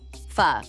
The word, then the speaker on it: Pho: Fu, pronounced fu, is an ancient Vietnamese tradition.